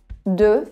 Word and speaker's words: deux: O X no final não é pronunciado.